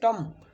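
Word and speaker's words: tomb: यहाँ पर दिया है टम, बी साइलेंट है, टम।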